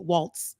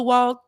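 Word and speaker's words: Walz: And she Walls. That's how you pronounce it, because I need to get the white man. Walls. Yeah, Walls. Okay, so because I want to say it in the way I would think that white folks would say it, Waltz. Okay, so it's Walls. So you pronounce the Z.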